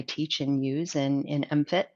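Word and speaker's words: MMFT: and use in in mfit that's how we pronounce that acronym mmst is mfit um and uh did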